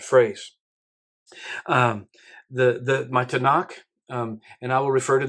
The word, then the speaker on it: Tanakh: so as a and they put a couple vowels in there and pronounce it tanak it's just a hebrew